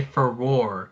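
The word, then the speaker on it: Farore: universe, say the name Furore, which no one can pronounce that and stick to it. It's been pronounced differently in different ways. But you finally say Furore.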